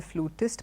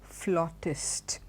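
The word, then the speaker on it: flautist: to refer to a tester flute as a flutist but the right if you follow British British pronunciation it's his collar flaw test a person who plays the flute is a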